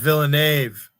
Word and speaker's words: Villeneuve: Up here, that last name is pronounced Villeneuve. Yeah, my dad worked with a guy with that name. They were a big family up here long ago. Villeneuve is how I've always pronounced it.